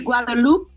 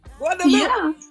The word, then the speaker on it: Guadeloupe: Well, it was said properly. It's really Guadeloupe. Guadeloupe. I was correct. Yes, Guadeloupe. Yeah. I've never been to Guadeloupe before.